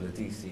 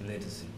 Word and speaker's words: Ledisi: while we're on the subject, and she corrected everyone the other day, her name is not pronounced Ledisi, it's pronounced Legacy.